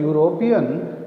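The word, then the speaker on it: European: शुरू हो रहा है, लेकिन अगर इसको हम बोलते हैं, प्रोनाउंस करते हैं, देन इट इज़ यूरोपियन, तो ये कॉन्सोनेंट की आवाज़ से शुरू हो रहा है, इसलिए इससे पहले हम ए लगाएंगे।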